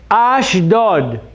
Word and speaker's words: Ashdod: Ashdod. What's the first thing? Bada bang, bada bingo. Next is a. Next is sh. And then dod.